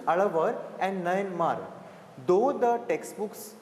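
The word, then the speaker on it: Alvar: as alar and Nar okay listen to the pronunciations alavar and Nar though the textbooks right Nar it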